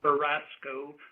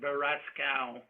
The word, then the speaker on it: Beraskow: for years, should know my surname is pronounced Barasco, not Barascow. Excuse me.